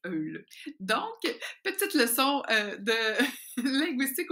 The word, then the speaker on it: Öl: Alors, au Québec, vous allez prononcer Ol, mais la façon allemande de prononcer ce mot, qui veut dire huile, c'est Eul.